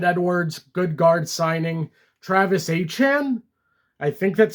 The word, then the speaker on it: Etienne: Their biggest additions, David Edwards, good guard signing, Travis Etienne, I think that's how you pronounce his name. It's not Etienne like we've all been saying for years. It's Etienne apparently.